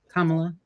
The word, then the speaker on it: Kamala: kamala's birthday everybody wish Kamala a happy birthday please and go give some mother sorry I said it wrong Kamala comma I fixed it it's hard it's because